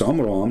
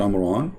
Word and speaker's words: Amram: It's Amram, not Amran, but idiot, as what you say, is the father of Moses.